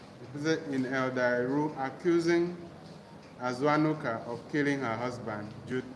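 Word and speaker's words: Azuanuka: and name is aanuka her name is a aanuka aanuka it is spelled a z u a n u k a asan he says that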